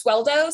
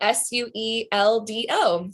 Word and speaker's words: Sueldo: So is spelled like North and South. And then my last name is Sueldo. So Sueldo.